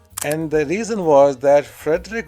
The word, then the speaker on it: Frédéric: And the reason was that Frederick was Frederic, I think it should be pronounced.